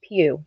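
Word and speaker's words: Pugh: as i get information last name p-u-g-h and it's um pronounced pew like p-e-w q it's a pretty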